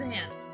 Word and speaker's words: Zant: Gant. At least it wasn't as bad. And you said his last name wrong, it's Zant.